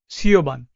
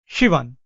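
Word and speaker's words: Siobhan: Now, as you can see here, if I had to pronounce this word, I will pronounce it as Sioban, right? But the right pronunciation is Shivan or whatever that is.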